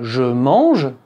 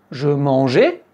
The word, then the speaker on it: je mange: Si vous prononcez le “e” comme un “é”, “je mangeais”. Un Français ne va pas se dire : “Oh, quel mignon petit accent”, non. Il va simplement penser : “Ah, tiens, la personne parle au passé”. Parce que lui, il entend : “je mangeais”, il entend l'imparfait.